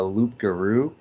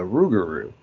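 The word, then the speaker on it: rougarou: Technically, yes, we know it's the Rugaroo, but the reason there's a misprononunciation was because the local Blackfoot tribe had a very difficult time pronunciating loop guru, changing it to the Rugaroo.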